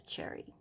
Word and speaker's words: Cherrie: elementary school in pennsylvania i did look up the names i wanted to pronounce it correctly and it is cherry just so you guys know